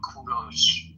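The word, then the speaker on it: کوروش: English people call him Cyrus, but in Persian we call him Kuros. In Persian it is pronounced kudo but in English you would call them call him Cyrus.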